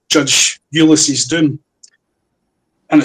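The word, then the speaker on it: Doum: Uh and three called Judge Ulys's Doom and it's spelled D O U M like the doom tree from Chad in Africa.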